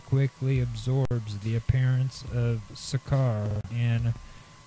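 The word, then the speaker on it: Sokar: Old Kingdom he quickly absorbs the appearance of sakar and tetan sakar spelled s o k a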